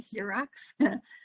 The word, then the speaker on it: Xerox: And even though it starts with an X, it's pronounced Z, Xerox.